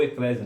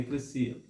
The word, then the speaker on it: eclesia: As pessoas dizem que igreja vem de eclesia, que significa, ou eclésia, né? Algumas pessoas dizem eclésia, mas a pronúncia correta é eclesia.